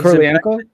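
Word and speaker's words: Kurylenko: Is it Karolinko? Is that how you say it? Oh, Karolinko. She's Kurlienko.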